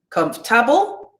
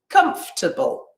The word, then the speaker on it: comfortable: is in that word is it comfortable comfortable okay so my stress is on the first one right that's my main stress and here are my other ones so these sounds are the ones where we usually have the schwa okay comfortable comfortable let's